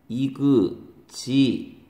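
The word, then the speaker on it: exhibit: 얘가 명사로 전시회 엑서비션 얘는 발음이 다르죠 이그지 빛 이그지빗 얘는 액 써비션 이렇게 되는 거죠 발음 가지고 얘기 많이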